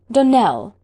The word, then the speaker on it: Donnel: Donnel, accent on the last syllable, and St.